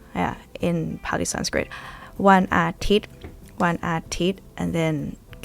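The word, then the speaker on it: อาทิตย์: And then next one, One Athit. Without an S.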